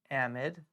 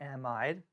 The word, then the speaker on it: amide: That would be called a amide or an amide, however you want to pronounce it.